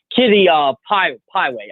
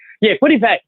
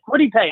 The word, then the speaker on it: Kwity Paye: Kitty Pieway, the defensive end from Michigan. Maybe, Kwity Paye. That's it, Kwity Paye.